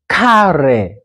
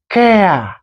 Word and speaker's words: care: And then this is, don't read it carry. Carry, no, it sounds like carry, but it is care, okay?